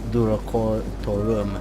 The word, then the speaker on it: Durocortorum: this region record though I know it's pronounced do record tour but away from the